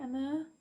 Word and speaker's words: Amur: Is that how you say it, Amur? It's A-M-U-R, so Amur.